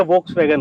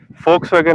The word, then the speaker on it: Volkswagen: फोक्सवैगन होता है क्योंकि जर्मन लोग वी को एफ प्रोनाउंस करते हैं, उस वजह से वोक्सवैगन को फोक्सवैगन बोलते हैं। आप कुछ भी बोल सकते हैं, लेकिन असल में फोक्सवैगन बोले तो ज्यादा अच्छा लगेगा।